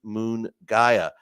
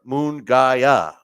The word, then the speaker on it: Munguia: all the time but I think it's moonaya I remember uh in